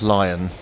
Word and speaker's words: Leon: Are you a lion or a Leon? It's pronounced lion.